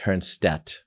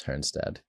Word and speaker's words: Hernstad: Africa it was pronounced Hearnstat because the D is really kind of pronounced as a T. Okay. And then here I am in America for most of my life and it's Hernstead.